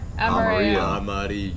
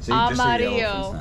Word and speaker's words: amarillo: Amarillo. Oh. Amarillo.